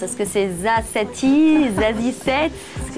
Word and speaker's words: Za7ie: Est-ce que c'est Zazie, Zazie 7? Il y a plusieurs versions. Ça se prononce pas, ça s'écoute, j'ai envie de dire, mais c'est, oh ouais, c'est Zazie 7, quoi.